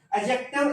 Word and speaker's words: adjective: एडजेक्टिव इज a word, ये एडजेक्टिव नहीं है। डी जो है वो साइलेंट है। फोनेटिक ट्रांसक्रिप्शन में डी को साइलेंट रखेंगे, इसलिए ये एडजेक्टिव है, एडजेक्टिव ना कि एडजेक्टिव।